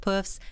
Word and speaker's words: poof: 5 puffs and 2 pianos. Yeah, it'll be ace. 100% more pianos and 25% more gays. I don't know. It's pronounced puff, like P-O-O-F, but puff is how you pronounce it.